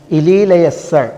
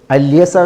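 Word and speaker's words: اليسع: ഇലി ലയസ്സ എന്ന് വായനുണ്ട്, അല്യസ എന്നും വായനുണ്ട്. അലി അൽ കിസായിയും ഹംസ അൽ കുഫി അദ്ദേഹവും അവരുടെയൊക്കെ ഖിറാഅത്തിൽ ഇലി ലയസ്സ എന്നാണ്.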